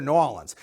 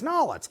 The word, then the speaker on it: New Orleans: used to meet together New Orleans and all its BAM I I never had a crawfish before you know I used to pronounce it New Orleans but then I learned it's knowlet's and man it was